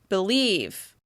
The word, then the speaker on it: believe: and it sounds like believe. By reducing the vowel sound even further, it makes it really clear which syllable I'm stressing. Believe. Believe. In this case, we're stressing the second syllable.